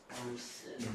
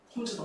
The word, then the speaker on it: 홈즈: 누가 봐도 이거 홈스라고 읽지 않아? 책대로 쓰자. 마음에 안 들지만 홈즈다 홈즈.